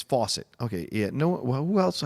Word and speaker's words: Fawcett: the record my name my surname is pronounced the same as faucet okay yet no well